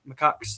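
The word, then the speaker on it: macaque: stuff uh in Japan macaks is how you say it but Um yeah, they come from actual studies.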